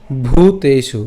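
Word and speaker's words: ভূতেষু: নচাসয় সর্ব ভূতেসু খেয়াল করুন সর্ব ভূতেশু ভু উচ্চারণ করছি। ঠিক আছে? ভু না কিন্তু অনেকে এটা উচ্চারণ করেন ভু বাট এটা কিন্তু ভু না কারণ এখানে ভ আছে আমাদের চাপ দিতে হবে।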